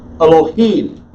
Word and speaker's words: Elohim: D here and so English speakers are going to say hello E now put the emphasis on the first syllable which is incorrect and they will give it a full vowel sound which is incorrect I will teach you